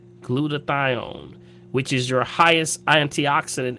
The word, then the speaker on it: glutathione: good and it also raises this thing called glutathione glutathione which is your highest antioxidant in your body